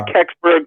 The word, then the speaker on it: Kecksburg: Is it Kecksburg? Is that how you pronounce it? Untold Story. Yeah, Kecksburg.